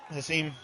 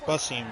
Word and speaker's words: Basim: Very good round for Hassim. Or Basim, not Hassim. How long was I saying it wrong? Basim, not Hassim or Kassim.